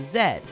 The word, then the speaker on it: Z: only English-speaking country that pronounces Z as Z as opposed to zed like the British now you can tell